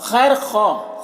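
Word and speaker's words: خیرخواہ: चाहना खैर खाही और खैर ख खैर ख यहां पर भी वा साइलेंट है खैर ख इसका माना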